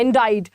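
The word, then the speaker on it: indict: है हमारा इसमें जो सी जो है वो साइलेंट राहत है इंडिया what is इन डिड तो यहां पर बेसिकली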